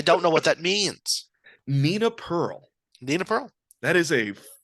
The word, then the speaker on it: Nina Pearl: Nina Pearl.